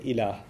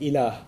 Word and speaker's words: ilah: which there's the term ilah. If you want to write that in English, it would be I-L-A-A-H, ilah. It's pretty easy to pronounce in English, okay?